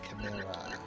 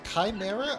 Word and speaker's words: Chimera: Chimera. Is it Chimera or Chimera? I guess it's pronounced both ways.